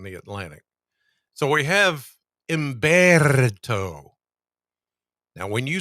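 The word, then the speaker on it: Humberto: So, we have emberto. Now, when you say this, when you pronounce this hurricane, you have to roll the Rs just like I did.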